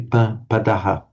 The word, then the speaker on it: padaha: let me just say, if that word were just on its own, padaha, you tend to put the stress on the first syllable. However, because it is a prefix, you tend to say padaha.